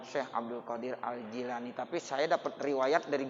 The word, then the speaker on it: Syekh Abdul Qadir Al-Jilani: Ada yang bilang Syekh Abdul Qadir Al-Jilani, tapi saya dapat riwayat dari guru saya, itu bacanya Syekh Abdul Qadir Al-Jilani.